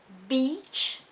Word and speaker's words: beach: We have, for example, the difference between beach and bitch. So notice that beach is long and bitch is short.